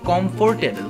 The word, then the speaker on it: comfortable: তো ইউজুয়ালি এই শব্দটাকে আমরা উচ্চারণ করে থাকি কমফোর্টেবল, কমফোর্টেবল। বাট এখানে যে আর লেটারটি আছে, ওয়ার্ডের ভিতরে আর লেটারটি সাইলেন্ট থাকবে, অর্থাৎ উচ্চারণ হবে না।